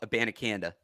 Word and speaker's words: Abanikanda: Israel, it's exactly how it's spelled. Abanikanda. Izzy Abanikanda.